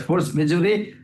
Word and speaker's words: force majeure: How we should pronounce it? As force majeure, this is what our